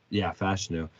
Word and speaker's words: Fashanu: Olu Fashanu, Fashanu.